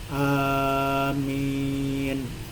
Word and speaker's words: amin: Lughah yang pertama yang paling fasih dan masyhur dan baik di kalangan ulama adalah diucapkan dengan panjang dan huruf mim yang ringan. Jadi a-nya panjang, min panjang. Jadi amin.